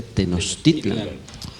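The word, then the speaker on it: Tenochtitlan: que no titulan y que la pronunciación correcta debería ser tenochtitlán porque la lengua no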